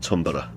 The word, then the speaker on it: Thunberg: people have noticed that Amy Goodman pronounces it that way, not Tunberg or Thunberg, but Tumbera, and I think perhaps in her native Sweden that is how they pronounce it.